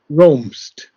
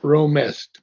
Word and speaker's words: roamest: that is the word roamst, not romest, but roamst. Roams.